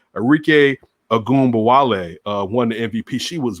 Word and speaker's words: Arike Ogunbowale: You had Arike, let me make sure I pronounce her name correctly. Arike Ogunbowale won the MVP.